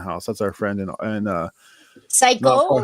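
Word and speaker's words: 最高: That's our friend and Psycho, like in Japanese. Psycho, like super cool. Yeah, Paul, you might not know that, but psycho in Japanese means awesome. It's spelled Saiko, but psycho.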